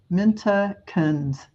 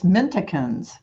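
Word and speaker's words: Mintaka: the video minta mint minta kins minticans they're it's minticans not mint Hawkins It's mintakins please it's a star system in the Orion uh belt she is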